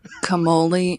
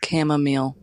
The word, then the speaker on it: chamomile: Today, my boyfriend said camole instead of chamomile.